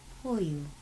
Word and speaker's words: pollo: Arroz con pollo. And pollo has a double L. Pollo. It sounds like a Y, but it's two L's. Pollo.